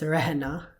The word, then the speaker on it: रहना: So even though it's spelled rahana, it's pronounced rehna.